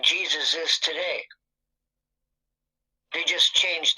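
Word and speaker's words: Jesús: you pronounce pronounce this you do want to stress on the second syllable that's what the accent on the means here Jesus pretty straightforward once you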